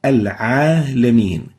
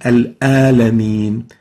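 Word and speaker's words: العالمين: So this is the ayn, and they mispronounce the letter ayn and replace it with the letter a. So instead of saying al-alamin, they would say al-alamin.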